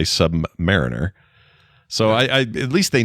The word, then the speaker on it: Submariner: It says the word Submariner, as in the Rolex watch or the comic book character, is typically pronounced either Submariner. But that's watch people mostly use that. Or if you're talking the comics, most people, it even says here, most people in the comics say Submariner.